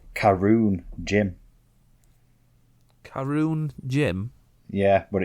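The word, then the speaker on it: Caorunn: something on there in the fridge uh called karoon gym karoon gym yeah but it's spelt like c a or uh u double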